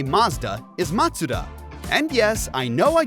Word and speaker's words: Mazda: The correct way to say Mazda is Matsuda. And yes, I know I just pronounced it wrong while explaining the correct pronunciation, but relax.